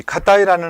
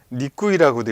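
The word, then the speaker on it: 難い: 자, 이 카타이라는 한자가 있습니다. 자, 이거를 우리가 무즈카시라고 읽게 됩니다. 무즈카시. 그런데 지금 자, 이렇게 쓰는 경우에는 니꾸이라고도 읽고 카타이라고도 읽습니다. 카타이, 좀 글씨가 잘 안 보이시죠? 카타이라고도 읽고 니꾸이라고도 읽는다는 거예요. 자, 뭐 타베 니꾸이 할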